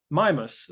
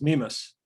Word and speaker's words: Mimas: Now, what is a moon and is kind of like the Death Star, but isn't, is the moon of Saturn, Mimas, sometimes pronounced Mimas.